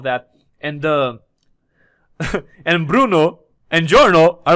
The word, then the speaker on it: Giorno: Giorno, also Giorno. I'm calling him Giorno. I think what is Giorno, right? If I wanted to pronounce it like people pronounce it in Italian.